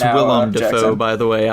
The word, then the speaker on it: Willem Dafoe: It's not William Dafoe. I'm telling you that It's now. Willem Dafoe, Jackson.